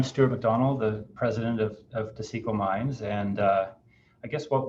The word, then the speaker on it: Taseko: How do you pronounce it then, Stuart? It's Taseko Mines.